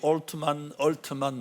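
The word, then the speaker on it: Altman: 저는 엘트만이라고 썼는데 발음이 얼트만 뭐 이런 식으로 발음이 되는데 5월 16일 이제 이것도 딱 1년 전입니다. 챗GPT 만든 오픈 AI의 사장인데 올트만이 미국 상원 소위원회에 출석해가지고 부탁을 한 겁니다.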